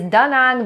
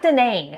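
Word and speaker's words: Da Nang: But I can assure you it's pronounced daang kind of mono monotoned with equal emphasis on both words.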